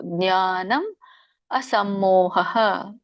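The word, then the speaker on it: ಜ್ಞಾನಮಸಮ್ಮೋಹಃ: ಜ್ಞಾನಂ ಜ್ಞಾನಂಜ್ಞಾನ ಜ್ಞಾನ ಅಸಮೋಹ ಇಲ್ಲಿ ನೋಡಿ ಜ್ಞಾನ ಅಸಮೋಹ ಆಗುತ್ತೆ ಅಲ್ಲಿ ಅ ಉಚ್ಚಾರಣೆ ತಾನಾಗೆ ಬರುತ್ತೆ ಆದರೆ ನೀವಲ್ಲಿ ಅ ಹಚ್ಚಿ ಉಚ್ಚಾರಣೆ ಮಾಡಿದ್ರೆ ಒಳ್ಳೇದು ಜ್ಞಾನಂ ಅಸಮ್ಮೋಹ ಅನ್ನವನ್ನು ಸೇರಿಸಿಬಿಡಬೇಕು ಅಲ್ಲಿ ಅಷ್ಟೇ ಜ್ಞಾನಂ ಅಸಮ್ಮೋಹ ಕ್ಷಮ ಸತ್ಯಂ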